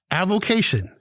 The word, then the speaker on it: avocation: day we do uh avocation a-v-o-c-a-t-i-o-n it's four syllables it is a noun